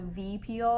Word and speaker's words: Vi Peel: the peel that I got is called the V peel and the downtime and it's spelled like VI but downtime is like five